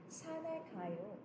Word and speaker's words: 산에: Pero igsuwat mo, of course, there is batchim, but when you're going to pronounce it, batchim 없어요, because it will be carried over.